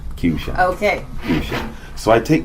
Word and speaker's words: Qshan: comes, you just pronounce it like nation. Qshan. Qshan.